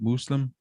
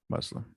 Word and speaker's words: Muslim: Muslim is typically how you say it in Arabic. Okay. So it'd be Muslim. Well, how would I say it if I was just a white guy from Louisiana? Muslim. Okay. Yeah. Say it like with a harder S, like Muslim.